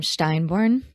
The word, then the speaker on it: Steinborn: Now I noticed you pronounced your last name Steinborn. Mhm. Okay. So I said it wrong earlier.